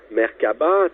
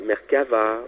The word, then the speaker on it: Merkabah: Il y a eu plusieurs façons de prononcer Mercaba tel la Mercaba, la Mercava ou encore la Mercava avec un H en passant. Tout comme la Mercaba qui porte également un H.